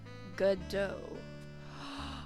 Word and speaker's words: Godot: How do you pronounce it? Let's see. Gotta depends. Godot? Godot? Wait. Godot.